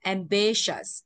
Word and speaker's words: ambitious: Mà trọng âm dây từ B, đuôi shirt trọng âm dây trước nó là B. Thì đọc là ambitious, ambitious, ambitious nha.